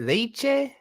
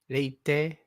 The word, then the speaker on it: leite: I saw it was with a T, but the way they pronounce it in the app sounds like they're saying leche.